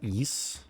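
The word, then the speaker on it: Ys: It's pronounced east.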